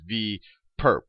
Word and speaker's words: V perp: So we write this little orthogonal notation as a superscript on V, and you can pronounce this as V perp, not for perpetrator, but more perpendicular.